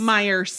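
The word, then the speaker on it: Meijer: Oh, Myers.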